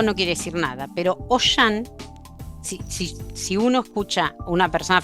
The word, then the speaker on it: Auchan: Poner al campo en francés es Auchan, ¿no?